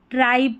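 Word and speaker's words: tribe: जैसे कि अगर स्पेलिंग होती, जैसे यहाँ पर इसमें देखें, इसमें लास्ट में B है तो इसको ट्राइब पढ़ा, यानी TRI को ट्राई पढ़ा। लेकिन अगर ये ई नहीं होता तो ये ट्राइब नहीं ट्रिब पढ़ा जाता।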